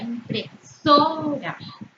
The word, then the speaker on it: impresora: Por ejemplo, la palabra impresora. Nosotros pronunciamos con mayor intensidad so.